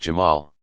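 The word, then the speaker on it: جمال: beauty and infinite attractiveness jamal pronounced jamal god both brings to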